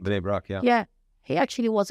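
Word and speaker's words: Bnei Brak: Bini Brak, yeah.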